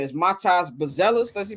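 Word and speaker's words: Matas Buzelis: I want bang I'm pronouncing his name is Matas Bellis that's he pronounce it Matas buellis is what I was not aware of him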